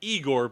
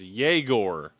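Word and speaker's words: Egor: It is um, so it's it looks like Eigor, but it's pronounced Yagore, right?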